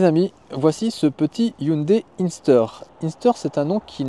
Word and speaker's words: Inster: Ça s'écrit Inster. Bon, c'est pas Inster de bois, il faut vraiment dire Inster, la marque qui tient.